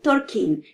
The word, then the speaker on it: Tolkien: Oui, je dis Tolkien, car c'est ainsi que son nom est prononcé dans son pays.